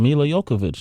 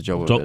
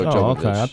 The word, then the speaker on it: Jovovich: I didn't know you pronounced the J. You know what? I think if you pronounced it like the way she does, wherever that name is from, I think you don't, but I've heard Jovovich. Yeah, man.